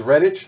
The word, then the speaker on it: Redditch: invoke to JK Rowling so is is Redditch like quidditch right okay so there's that